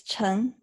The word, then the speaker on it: Chen: yeah, Okay, so and then your last name, how do you, is your last name pronounced pretty close to the way we spell it in English? it is. It's Chen. Chen, okay.